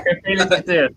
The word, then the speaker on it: gefeliciteerd: Yeah, gefeliciteerd.